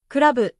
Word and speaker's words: クラブ: For example, club becomes kurabu, glass becomes gurasu, train becomes torein.